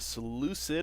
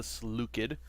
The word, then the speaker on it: Seleucid: What's up, YouTube, and welcome to the Seleucid, or as properly pronounced, the Seleucid.